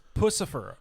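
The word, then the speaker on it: Puscifer: It's Pussifer. Okay, Crystal? Pussifer. That's the way it is. It's meant to be a joke on pussy.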